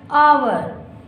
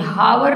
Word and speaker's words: hour: H, O, U, R, आवर. बेटा इसको भी आवर ही पढ़ते हैं, हावर नहीं. ओके, क्या कहोगे? आवर. एच साइलेंट होता है, एच का प्रोनंसिएशन नहीं होता.